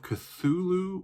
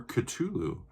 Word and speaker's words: Cthulhu: doing the call of cthulhu or cthulhu however you want to pronounce it by metallica here we